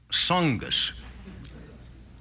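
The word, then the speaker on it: Tsongas: announced candidate is Paul SAS TS o n g- a s the t is silent right Paul SAS came out with his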